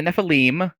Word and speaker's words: Nephilim: like so the uh the Nephilim is I believe the correct pronunciation as I have been instructed by the editing team um I'm good at